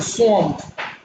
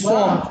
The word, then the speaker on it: swamp: what you have in swamp the s w m p is not swamp it's swamp it's a swampy area so the the a is actually pronounced o so which can answer